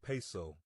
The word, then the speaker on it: Piso: The New Testament, the Church, and Christianity were all the creation of the Calpurnius Piso, pronounced Piso, one family, who were Roman aristocrats.